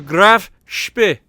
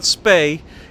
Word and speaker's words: Graf Spee: hopefully that appeases everybody it's not a okay it's not spay and apparently it's not completely speed even though that's closer to the real pronunciation then spay is which apparently a lot of English people's thing to say so with that out